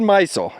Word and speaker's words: Maisel: They enlisted the help of a man named David Maisel , that's how his name is pronounced.